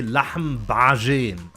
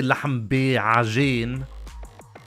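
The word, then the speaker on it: لحم بعجين: So I say lahm bajin. I put everything together. I don't say lahm bi'ajin.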